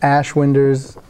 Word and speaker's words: Ashwinders: Make sure you pronounce the ash. Okay. Yep, community Quidditch team. Yep, Ashwinders.